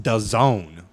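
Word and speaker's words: DAZN: anyway so it's spelled da ZN but it's pronounced does own like this is doesn't really yeah it's very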